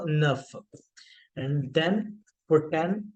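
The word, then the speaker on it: neuf: is with with then nine is enough again इ यू a sound जैसे कि टू में हमने यूज किया था ना द वैसे न प्लस एफ क्योंकि लास्ट में कंसोनेंट साउंड देता है तो आपकी साउंड बन जाएगी नफ न प्लस फ enough and then for टेन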